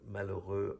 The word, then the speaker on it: malheureux: Again, we don't pronounce the H in French, nor the X at the end.